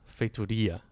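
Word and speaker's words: Feitoria: So, okay, first thing, the stress is on Fatoria. Fatoria. Not too bad. The R is still awful, but Wait, how's the R? How's the R? Well, it's a very Portuguese R.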